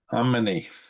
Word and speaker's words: Khamenei: The K is silent. Khamenei.